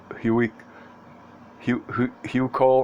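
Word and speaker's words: Huichol: continued i've seen the i don't know how to pronounce this h-u-i-c-h-o-l hugh cole or arcadia making a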